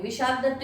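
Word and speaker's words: विशाखदत्त: फिर है मुद्रा राक्षस, इसके लेखक हैं विशाख दत्त, विशाखा दत्त भी सही है, स्पेलिंग बस ए लगा हुआ है, कोई ऐसी प्रॉब्लम नहीं है प्रोनाउंसिएशन में, और बहुत इजी तरीके से याद कर सकते हैं।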